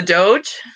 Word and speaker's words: Doge: the hint is woof woof so that's the doge that's how you say it that is the